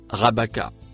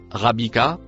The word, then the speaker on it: rabaka: Le mot rouge se prononce rabaka et non rabika comme falsifié grâce au voyelle.